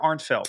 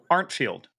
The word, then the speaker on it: Arntfield: Is it Arntfield or Arntfeld? Field. Arntfield.